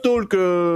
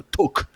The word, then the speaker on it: talk: du jour évidemment et je prononce bien le l de Talk pour trigger monsieur le prof qui déteste quand on fait ça parce que en bonne anglais on devrait dire le TOC mais moi je dis